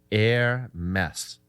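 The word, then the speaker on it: Hermès: what's even funnier that the company name is pronounced air mess wake up people do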